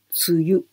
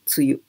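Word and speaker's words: 梅雨: producíamos amén pero aquí en esta combinación pronunciamos suyo suyo o cambia a veces decimos bye bye bye hablando normalmente decimos suyo suyo imagínese que es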